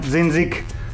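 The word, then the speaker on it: dzindzik: I put one hole into this little thing, how we call it in Slovakia, dzinzik.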